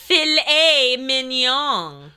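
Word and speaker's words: filet mignon: says to Martha I'll think I'll have the filet mnon that's pronounced F Min what's fet Min it's a type of steak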